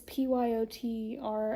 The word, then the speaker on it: Pyotr: And I'm really curious to see how he gets in on this with the other character, Peter. I don't know if it's pronounced Peter or Pewter. Pewter. It's Pyotr.